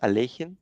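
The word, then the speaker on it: Alekhine: but you know like in russian it's better to pronounce it alejin for some reason so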